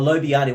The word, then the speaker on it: lobiani: recommend foods for your family to try out Lani oh I'm really into try out different foods stuff Lani let's get that up and today we're going to be making a lobiani recipe Lani oh lobiani well at least we know how to say